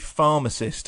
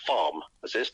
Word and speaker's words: pharmacist: I know that Americans tend to stress the first syllable, don't they, of any term. So, farm assist is is absolutely fine.